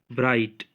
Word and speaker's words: bright: Then bright, so G is silent in bright.